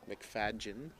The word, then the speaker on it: McFadyen: this is uh mark mcfadyen playing for ontario here just through and i did pronounce that name correctly it is mcfadjen a really great player